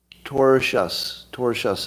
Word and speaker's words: tortious: Tortious is how you say it, I'm told.